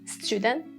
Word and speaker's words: student: For student and stupid, you see we have T plus U, so you can have the ch sound. Student, stupid.